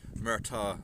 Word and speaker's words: Murtagh: Murtagh, M-U-R-T-H-E-H, pronounced Murtagh as in Riggs and Murtagh from Lethal Weapon series.